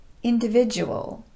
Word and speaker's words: individual: Today, I want to address those words where the letter D is pronounced just like the letter J.